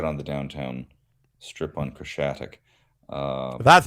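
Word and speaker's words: Khreshchatyk: an interview right on the downtown strip on Krashatik. That's how you a month pronounce or that.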